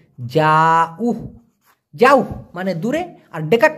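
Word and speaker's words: jauh: যাও, জে এ you, Hayes, উচ্চারণটা হবে যাউ, যাও মানে দূরে, আর ডেকাট মানে কাছে।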